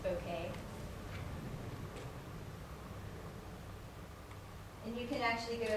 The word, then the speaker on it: bokeh: like the word looks like bokeh it's actually pronounced bokeh and you can actually go you can like